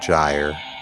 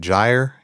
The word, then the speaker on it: gyre: So the poem goes, turning and turning in the widening gyre. Is it gyre? Gyre? I like gyre.